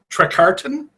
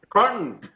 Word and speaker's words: Trecartin: Trecartin. One syllable? Trecartin. All right. Yeah. Dylan? Trecartin. Oh, yeah. Oh, yeah. See, that's the most common one I get is the French. It's actually a British origins.